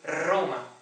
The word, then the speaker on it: Roma: Este som, R, Roma, em italiano não existe. Esta palavra, a capital da Itália, em italiano pronuncia-se Roma. Portanto, Roma, com uma R muito forte.